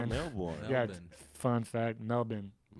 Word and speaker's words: Melbourne: And also we were in like we went to Melbourne, but it's pronounced Melbourne. Melbourne, not and- Melbourne. Yeah, Melbourne. fun fact, Melbourne. Melbourne. Yeah, the R is silent.